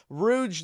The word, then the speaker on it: Rouge: apparently not everything with the way I pronounce Rouge the Bat I whole life I thought it was Rogue I'm sorry guys but